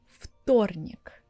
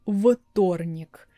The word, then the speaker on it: вторник: Tuesday pronounce it like Фторник. I'm not saying Вторник because в is voiced, т is voiceless. But it's impossible for me to say Вторник, it's so unnatural for Russian.